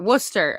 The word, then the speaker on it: Worcester: Then I was gonna say it right, Worcester.